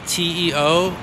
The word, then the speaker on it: Teofilo: Spell it again, that's two words, your first name and your last name. Teofilo is Teofilo, and is.